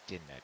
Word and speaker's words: Dynmap: I don't remember what Sid said how you pronounce it. It's din map, DYNMAP.